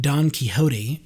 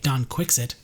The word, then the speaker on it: Don Quixote: So Cervantes, who wrote Don Quixote, or if you are my English teacher from UCLA, Don Quixote, they refuse to pronounce it in the Spanish way because the English at that time didn't.